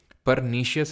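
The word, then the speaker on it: pernicious: या फिर ध्यान रखेंगे परनेशियस एनीमिया इसको बोलते हैं पर एक सेकंड स्पेलिंग आई थिंक गलत हो गई परनीशियस एनीमिया बोलते हैं।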